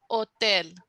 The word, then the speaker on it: hotel: it gets tricky because Hotel becomes otel you cut off the H and you start with